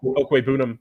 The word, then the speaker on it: Okwuegbunam: Okwuegbunam, I think actually is the right way to pronounce that.